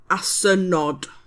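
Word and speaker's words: asynod: A donkey is asin and donkeys is asenod.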